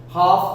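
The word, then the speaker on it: half: मुझे का सकते हैं हाफ आपको पता ही है देखो एल साइलेंट है तो हाफ हो गया एफ से पहले अब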